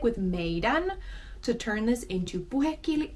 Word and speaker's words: meidän: And in Puhekieli, all you do is drop the D.